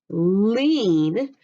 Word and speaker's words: lean: You can hear that with lean, we have a long E sound. It can't be an open syllable E because we have to have an N on the end. It could be magic E, couldn't it? Or EE, but lean is an EA.